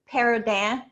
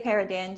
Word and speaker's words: Perrodin: So if you're from South Louisiana, we pronounce it Perrodin, but anyone else, I say Perrodin just because it goes over their head.